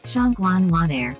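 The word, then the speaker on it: 上官婉儿: Phát âm vẫn còn khó khăn, nhưng nó có vẻ là Shangguan Wan'er.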